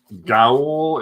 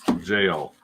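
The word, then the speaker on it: Gaol: Gowl is pronounced jail. Gowl, jail.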